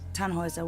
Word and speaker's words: Tannhauser: what's your name Tannhauser we'd pronounce it tan Wazza with an armload German